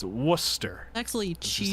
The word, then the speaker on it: Worcester: Trying to pronounce Worcester. Listen. It's Worcester.